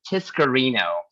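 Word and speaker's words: Tiscareño: don't get offended with my last name is mispronounced it is tiscarino you can pronounce it but it's it's mexican correct correct but no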